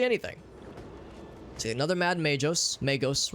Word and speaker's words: magos: see another mad magos magos rather it's a hard G another Herald technomad servator